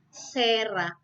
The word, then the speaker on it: cera: Ketika dia diikuti huruf E di depannya, maka dia dibacanya sebagai sera. Ya, cera jadi sera.